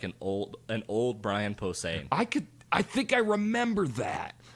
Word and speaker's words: Posehn: Brian Posehn? Posehn, thank you.